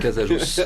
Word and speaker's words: Casajos: Et c'est pilote Casajos. On prononce toutes les consonnes.